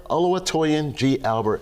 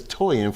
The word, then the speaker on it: Oluwatoyin: sit down with Think Liquidation LLC, the owner Oluwatoyin G. Albert, and I said it right. Thank you very much. How's it going today? Thank you. Right. So not too many people, it's Toyin for short, if you wanted to know that.